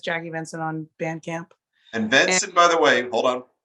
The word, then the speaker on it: Venson: And Venson, by the way, hold on.